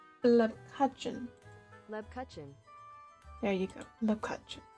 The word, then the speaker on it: Lebkuchen: How do you pronounce Lepkuchen? There we go. Here we go. This is the... Oops, no. Lebkuchen. Lepkuchen.